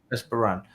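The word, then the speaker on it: Espérance: But then speaking to other fans that knew more about, was it Esperance? Is that how you say it? Esperance. Yeah, Esperance.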